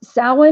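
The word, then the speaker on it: Samhain: h-a i-n and it's pronounced Sawa nor salween during the celebration of salen bonfires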